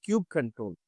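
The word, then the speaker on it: kubectl: So now kubektel right actually pronounced as cube control in the command line tool to interact with the kubernetes api server right.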